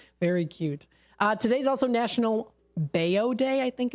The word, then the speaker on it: bao: It's called, it's pronounced bao, I believe.